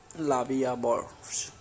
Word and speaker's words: La Vie en Rose: La Vie en Rose, literally life in prank, French pronunciation La Vie en Rose, French L'amour, is a